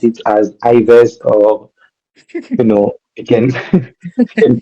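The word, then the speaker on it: Yves: Even if you pronounce it as Ives or you can you can pronounce it as you want.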